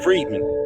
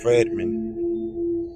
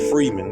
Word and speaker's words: Friedman: Friedman I'm sorry Milton Friedman Friedman really fried Friedman fredman I've never pronounced that don't say Freeman but you can say it like that which retains neoclassical